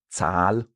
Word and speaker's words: Zahl: Or for Zahl, the number, we have a long A because we have that H after.